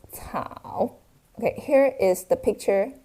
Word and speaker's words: 草: It pronounced as 草.